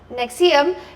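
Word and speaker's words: NXIVM: administered by the local organization Nexium, pronounced Nexium.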